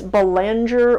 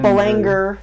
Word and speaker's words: Belanger: And it's not pronounced like it's spelt. I would want to say it phonetically. Yeah, if you're American, it's Belanger or Belanger. Belanger.